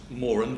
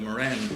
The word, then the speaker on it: Moran: gently remind everybody that the family name is Morin and so this prize is pronounced more and these are the Morin prizes not the meringue Rises as always it